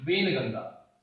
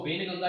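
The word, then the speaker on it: वैनगंगा: वेनगंगा। ठीक है, ये नदी ठीक है, इसको वेनगंगा या वेनगंगा प्रोनाउंस करते हैं।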